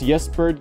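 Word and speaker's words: Ysbryd: I think it's Yesbird Games, but it's spelled Y-S-B-R-Y-D Games.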